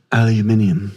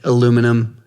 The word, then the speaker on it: aluminium: But because he was European, they were like, "Okay, he said it was aluminium." Aluminium. So So now we're going to do that. And America's like, "Fuck off." No, we're right. It's aluminum.